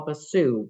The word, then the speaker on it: Basu: We have with us today, and I always call you Basu, but is that not how it's pronounced? It's Basu, like ba, like Basu. lamb, and then Sue.